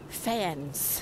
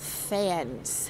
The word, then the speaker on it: faience: And they're refurbishing all the faience, it's called. This creamy coloured tile is a sort of a specialist building product, and it's called faience, F-A-I-E NCE, I think is how you spell it.